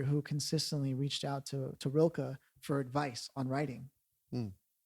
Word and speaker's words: Rilke: There's a poet by the name of Rilke, actually is how I've heard it actually pronounced. Rikle, Rilke, right?